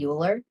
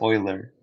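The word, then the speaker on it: Euler: to know ability is did you just say uler I don't know ooler Oiler Oiler I do pronounce it I think it's Oiler Oiler yes the oiler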